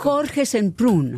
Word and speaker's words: Jorge Semprún: Mais pas Yorké. Et dans l'Espagne, Ça dépend comment vous voulez le prononcer.